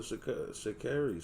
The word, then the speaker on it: Sha'Carri: She said it's Sha'Carri, by the way.